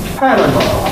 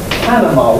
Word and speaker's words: Panama: stressed others call it Panama and the Americans in particular seem pretty fixed on Panama why do they get the stress wrong see is in Spanish it's stressed on the M because of hat because